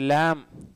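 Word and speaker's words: لام: அடுத்து லாம், லாம் ரொம்ப ஈஸி, இதுக்கு ப்ராக்டிஸே தேவையில்லை, எல்லா லாங்குவேஜில் இருக்கக்கூடிய லாம் தான், தமிழ்லேயும் வருது லா, இங்கிலீஷ்லேயும் இருக்குது லா. சரிங்களா? இது வந்து எல்ஏடபிள்யூமா லா அப்படின்லாம் சொல்லாமல் லாம் அப்படிலாம் இல்லை, லாம் அலிஃப் லாம் மீம் லாம் அந்த லாம் தான்.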